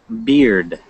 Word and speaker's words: beard: I think of it more like this, beard, like the word beer, okay, beard, and you just put a D on the end of it, okay, so what men